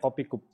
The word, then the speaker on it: Kopi Cup: Jadi itu jadi 2 kata, kopi dan kup. Jadi bacanya kopi kup.